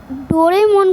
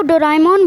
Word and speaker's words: Doraemon: ये वीडियो में मैं डोरेमोन को डोराएमोन बोलने वाला हूँ क्योंकि उसका असली प्रोनाउंसिएशन डोराएमोन ही है।